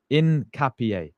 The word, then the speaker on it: Hincapié: I think my guy Nikico's in the chat in capier. Incapier. There we go. Incapier. So you don't say the H, you say in like you you pronounce it in capier. Incapier.